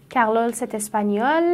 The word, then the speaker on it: espagnol: مونث « espagnole»، مذکر، تلفظ هر دو «espagnol» است. فقط مونث در انتها «e» دارد و «e» هیچ تاثیری در تلفظ ندارد . چرا برای مذکر، جایی که «e» نداریم و حرف آخر فقط «l» است، آیا هنوز «l» تلفظ می‌کنیم؟ چرا؟ چون «L» یکی از آن حروفی بود که اگر در انتهای کلمه می‌آمد، تلفظ می‌شد.